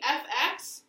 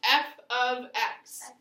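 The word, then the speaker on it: f(x): So this, though, instead of just saying fx, it's pronounced f of x.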